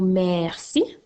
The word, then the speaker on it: merci: On a le mot merci qui s'écrit M-E-R-C-I. Alors, n'oublie pas que dans le mot merci, le son que tu entends s'écrit avec un C.